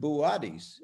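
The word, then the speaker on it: Boötes: So you might pronounce it Buatis.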